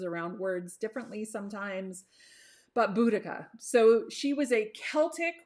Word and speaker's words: Boudicca: i think she might actually be my favorite buddhica or bodacia or however you want to pronounce it i will never make fun of